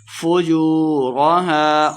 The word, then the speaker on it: فُجُورَهَا: فُجُورَهَا واو مد ہے، 2 حرکات لمبا کر کے پڑھیں گے.